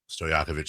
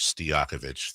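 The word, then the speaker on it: Stojaković: Kevin Harland also weirdly enough I will never forgive for pronouncing Stoyakovich Steakovich throughout his entire career.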